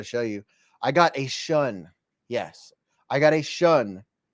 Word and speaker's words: Shun: that and well um it's spelled Shoon but pronounced shun and it's I don't